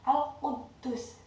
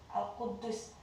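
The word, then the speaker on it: القدوس: Di sini ada tasdid, cara membacanya adalah Al-Quddus ya. Al-Quddus artinya yang maha suci.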